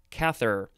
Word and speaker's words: Cather: a quote from willa cather willa w-i-l-l-a just like it sounds and cather c-a-t-h-e-r atrophic is an adjective